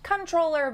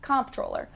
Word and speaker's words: comptroller: as comptrollers which is technically supposed to be pronounced controller but is almost always pronounced comptroller anyway the auditor general